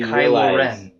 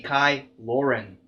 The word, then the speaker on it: Kylo Ren: things that's bad and when i think of kylo ren i don't really say it like that i say kylo ren see kai lauren loren it's like not there